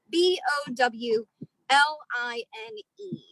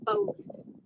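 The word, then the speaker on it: bowline: a bolon um so if you see it spelled out it's spelled b o w l i n e uh so it looks like it says bow line um but because sailors like to pronounce things differently we call it a bone so what i'm going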